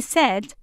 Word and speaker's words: said: For example, they soon get used to writing he said, S-A-I-D, and they know that it rhymes with bed, B-E-D.